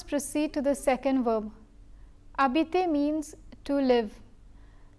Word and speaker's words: habiter: Habiter means to live. The H is silent because it is a mute H.